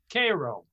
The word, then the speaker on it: Cairo: a city on the mississippi now it's not pronounced cairo down there it's called cairo naturally naturally and and i was i